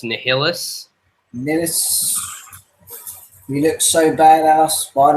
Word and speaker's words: Nihilus: Apparently, I mispronounced Nihilus. Nihilus.